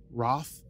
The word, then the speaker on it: Ralth: what's his name ralth Roth oh I forg spelled ralth but it's it's pronounced Roth or something like that uh and